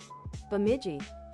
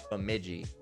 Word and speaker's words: Bemidji: How do you even pronounce that? Bemidji. Bemidji.